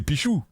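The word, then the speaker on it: Pixiu: D'ailleurs c'est pas Pixou, c'est Pichou. Si on le prononce à la chinoise.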